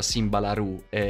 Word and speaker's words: Simba La Rue: letto nei commenti che si pronuncia simba la roux ora cercherò di farlo mondini e naturale dire la rue comunque sono alla fine